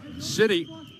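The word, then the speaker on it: Sitti: I want to, just for our audience to know, City, the name is spelled S-I-T-T-I.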